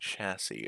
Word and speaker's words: chassis: about simple machine chassis the third s is silent it's just saying chassis um so what does